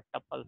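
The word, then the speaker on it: tuples: ये लिखा हुआ तो TUP है, लेकिन ये पढ़ा ए ए प्रोनाउंसिएशन ए वाला होता है, टपल्स।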